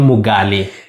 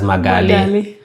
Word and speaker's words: Mugali: When I was in Eastern Equatoria, there's a place called Mugali. Okay. Or our people pronounce it as Magali.